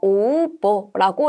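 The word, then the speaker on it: 応募: 응모는 오우보라고 읽어주시면 되겠습니다. 오우보가 되겠죠. 응모할 때 단어 오 장음으로 읽는 것도 체크해 주시고요.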